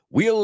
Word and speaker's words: we'll: We will is wheel. Suena como rueda.